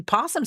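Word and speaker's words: opossum: But see, Pawsum starts with an O, which is silent, which I don't even know why we had to throw as a why we had to put a silent O in front of possum.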